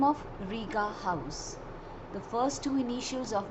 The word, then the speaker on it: Rigahaus: surname rita gangwani so it's riga house a lot of people ask me why i have named it riga house though it is spelled as h-a-u-s it's because my students